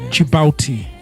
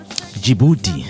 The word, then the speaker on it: Djibouti: Start with a DJ. Jango. Jango. Yeah. Yeah. It's DJ I B O U T I. Djibouti.